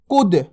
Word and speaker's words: कूद: छोटू की मात्रा का उच्चारण जल्दी से होता है, बड़ू की मात्रा का उच्चारण खींच के होता है। अब देखो अपन इसको कैसे पढ़ेंगे? कूद।